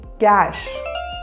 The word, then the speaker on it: cache: Cache. The correct pronunciation is cache.